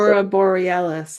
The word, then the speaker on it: Aurora Borealis: How do The you pronounce it? Aurora Borealis, I think is what they're Yeah, called.